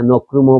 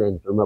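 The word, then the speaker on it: Nkrumah: উচ্চারণভাবে করতে পারছি না নক্রুমো বলতাম আগে এখন এনক্রুমা বলি মাশতুন বলতে পারতাম না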